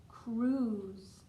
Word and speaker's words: cruise: This E is silent at the end also. Cruise. I think I would like to go on a cruise about now.